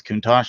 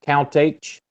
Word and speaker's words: Countach: I know how to pronounce those two names. So I wonder like whenever you were practicing like Countach, I wonder if you were like Count H. Lamborghini Count H.